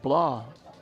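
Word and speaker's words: Blais: that was Heaton blah his name is actually spelled like like the blaze family b-l-a-i-s but he pronounces it blah the coach told me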